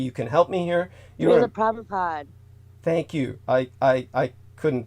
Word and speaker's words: Srila Prabhupada: Srila Prabhupada. Thank you. I couldn't pronounce that one.